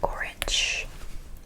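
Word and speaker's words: 오렌지: I ignore it. I read only my vowel. It's just helping my vowel create a syllable. O, wonderful. O. Read this as an R. Ren, wonderful. J sound. G.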